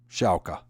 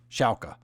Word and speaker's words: Schalke: number one all right I always have problems pronouncing the soccer team Schalke Schalke all right Schalke if you look here this if you look